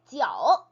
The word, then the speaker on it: 酒: J-I-U를 읽을 때, 네, I랑 U가 이렇게 겹쳐져서 있을 때, I랑 U 사이에 O가 있는 것처럼 읽어야 된다라고, 네, 발음 기호 다룰 때 한어병은 편에서 말씀드린 적이 있어요. 혹시 그거 안 보신 분들은, 예, J-I-U면은 G-U 아닙니까? 라고 생각을 하실 텐데, 네. I랑 U 사이에 O가 있는 것처럼 읽어야 되기 때문에 네, 지우라고 읽으시면 절대로 안 되세요. 네, 지오, 지오, 지오.